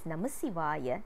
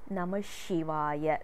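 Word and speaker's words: Namasivaya: it is uttered correctly we are not supposed to pronounce it as namashivaya that is a wrong pronunciation shivaya name is also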